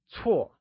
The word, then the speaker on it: 错: Bad translates to 错 and is pronounced using a falling tone or the fourth tone. Let's try and say 错. It is said with a falling tone, like 错.